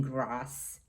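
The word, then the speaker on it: Grasse: world perfumery is in grass france g-r-a-s-s-e and i believe that's the way it is pronounced because there's no accent over the e it's a small town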